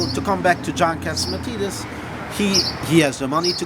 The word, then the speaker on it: Catsimatidis: Let me try to see if I can pronounce this one right. John Catsimatidis.